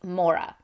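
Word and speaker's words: Morag: says for my wife Mora I think that's how you pronounce Mora it's m o r a g so it turns out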